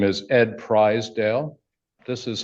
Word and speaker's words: Pryzdial: My name is Ed Prizedale. This is how mama taught me to spell it. This is how mama taught me to say it. Prize.